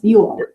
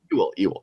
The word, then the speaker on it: Ewell: really happy to be joined by photographer Kelly Ewell. Did I pronounce it right, Kelly? Did I butcher your last Ewell. name? Very close. Ewell. Ewell. Kelly Ewell.